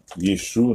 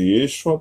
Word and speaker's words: Yeshu: Yeshu, né? Nós não falamos de Yeshua porque Yeshu é como se fala no aramaico da Galileia, né?